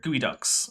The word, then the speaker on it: geoduck: It's not pronounced the way it's spelled. I don't know why. Yeah, for some reason it's spelled like Geoduck, which sounds like the bastard offspring of Geodude and Psyduck from Pokemon first gen. But yeah, for some reason it's then pronounced Gooey Duck, and no, I don't know why.